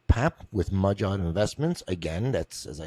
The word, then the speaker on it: Mudjod: Papp with Mudjod Investments. Again, that's as I say on every episode, Mudjod, not Magyar Investments. It's one of the drawbacks to naming your company something that's not easy to pronounce.